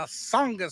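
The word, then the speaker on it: Tsongas: Lowell, Massachusetts at the Songus Center. That's a silent T for all you local people, the Songus Center.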